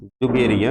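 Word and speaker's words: Dzungaria: बेहतर ढंग से देखिएगा यहां पर डी है लेकिन डिश साइलेंट है इस प्रकार से जो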